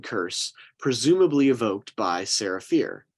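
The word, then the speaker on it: Fier: presumably evoked by Sarah fear spelled f-i-e-r but pronounced fear Sarah was executed for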